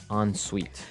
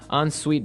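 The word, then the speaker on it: en suite: UI t e so even though it's e n we pronounce it like an o n yep on Suite so an onite bathroom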